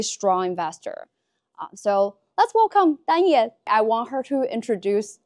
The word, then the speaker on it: Danye: But most Americans can't pronounce the name Danye. If they see the spelling, they don't know what it means. I introduce myself as Kanye with a D.